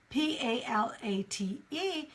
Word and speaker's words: palate: palette and palette yeah so they have the same sound two different spellings the palette PA la te is our taste we